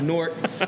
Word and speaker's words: Newark: y'all can't see it right there it's actually pronounced Newark real dope entrepreneur named uh Gabe okay um